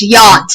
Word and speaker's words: yacht: that is not yacht we're yacht it's just yachts the say H is silent yacht ski and scull you know the